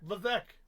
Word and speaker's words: Levesque: What are you putting an S in there for? Because there's an S in there. Levesque. Nah, S is silent.